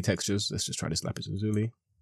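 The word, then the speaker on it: lapis lazuli: let's just try this lapis Luli or lapis Lai as I've heard it's meant to be pronounced and again we're getting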